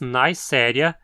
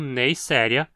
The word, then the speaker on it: Neisseria: deve ter entendido que nomes que terminam em ia vão ser sempre proparoxítonas. Dizemos Neisseria e não Neisseria, porque novamente é uma palavra derivada de um nome próprio, aqui do bacteriologista alemão Albert Neisser.